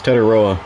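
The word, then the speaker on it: Tetairoa: It's Ted Iroa, or T-Mac.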